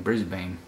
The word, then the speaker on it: Brisbane: can tell here from the headquarters being in Brisbane that this is not New York the the